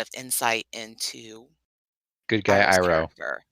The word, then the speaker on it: Iroh: And anyway, I'm gonna say his name wrong, guys. Go for it. The uncle, Iroh.